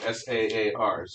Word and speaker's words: Saar: lorraine they lose the tsar which we'll talk about saars are pronounced the same way as the russian emperor totally different spelling and meaning they lose jupiter and